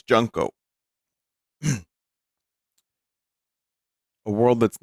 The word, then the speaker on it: Junko: Now, I'm pretty sure I'm an expert on how to pronounce Japanese names. It's Junko.